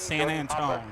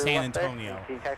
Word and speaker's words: San Antonio: So, here's a showing the 220 that arrived from a co-worker uh a classmate used to pronounce it San Antone. It's San Antonio.